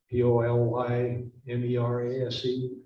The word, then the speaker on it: polymerase: the i'm going to pronounce it polymer issue pronounced it differently p-o-l-y m-e-r-a-s-e polymerase yes as it's going down the dna